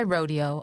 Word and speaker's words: Rodeo: My rodeo, although pronounced the way the cowboys do, was no less treasured than Beverly Hills.